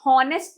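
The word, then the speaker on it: honest: H silent ऑनेस्ट नहीं पढ़ते इसे ऑनेस्ट पढ़ते हैं।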